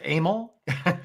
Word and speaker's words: Emil: By the way, it's Emil. Emil? Emil, yeah, but you can mispronounce it any way you want.